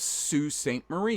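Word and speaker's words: Sault Ste. Marie: Captain John duton of Sue St Marie yes it's spelled soul but it's called Sue St Marie or they just call it the Sue o Michigan Sue St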